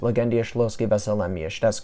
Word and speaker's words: Legendia: bagendia in Poland or as a is actually pronounced legendia leave a like for my awesome polish anyways